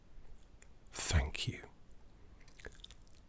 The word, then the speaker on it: thank you: Thank you. Get the tongue on the top teeth.